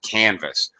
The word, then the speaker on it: canvas: Here, in this case, this verb actually has first syllable stress, canvas.